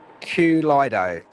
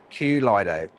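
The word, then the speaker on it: Kaleido: So, it's pronounced Q Lido. Q Lido. Q Lido.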